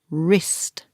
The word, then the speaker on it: wrist: hand connect what's that wrist careful it's spelled with a W but the first sound is her wrist he went skiing and